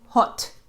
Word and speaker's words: haute: And I asked for uh two Benu hot. I think that's how you pronounce it. Hot h a u t e.